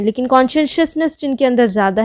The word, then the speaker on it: conscientiousness: Make sure to write the spelling of consciousness properly, because इसका जो pronunciation है वो ऐसा है conscientiousness.